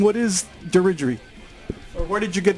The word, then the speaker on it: Dirigiri: about the name diery some people were saying no no it's dery Jerry and I was like no it's derer I was like we don't we don't really know how to say the name correctly we cleared it up tonight uh before before uh we started shooting here it is derer talk a little bit